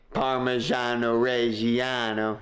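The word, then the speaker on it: Parmigiano Reggiano: minced garlic small onion parmesano reano you got to say it like that and then for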